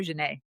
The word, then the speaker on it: Xanet: Welcome to the show, Jane. Thank you so much, Melissa. I'm happy to be here. Am I saying it right? Am I saying Jane right? You totally said my name right.